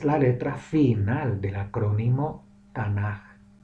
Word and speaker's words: Tanaj: forma de café final se pronuncia suave como una j no como una k ni como una c h fuerte por eso se pronuncia tana la razón por la